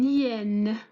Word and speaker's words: hyène: Nous avons aussi un hyène, un hyène. Aussi, nous avons H muette, ou bien l'hyène.